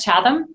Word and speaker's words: Chatham: studies education from Chatham University is that correct Chatham was that how you pronounce it yes okay good her MA in